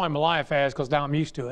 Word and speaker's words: Eliphaz: I call him Eliphaz. It's Eliphaz. Pardon me for not, I added some an extra syllable in there to make it easy on me, but it's Eliphaz, not Eliphaz.